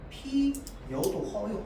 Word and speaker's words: 피어: 뭐 예를 들어서 꽃, 뭐 피어, 뭐 예를 들어서 지어 이런 식으로 되어 있으면 자, 얘를 우리가 원래 발음할 때는 어떻게 발음해야 돼? 피어로 발음해야 돼. 근데 뭐도 허용하는 거야? 피여도 허용하는 거거든.